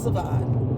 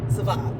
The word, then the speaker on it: Savon: it, but some people, they've been pronouncing it all hella wrong, all kind of stuff. But it's Savon. Savon. It's Savon. It's like, it sounds kind of French, Savon. You know, it sounds kind of bougie when you say that, Savon.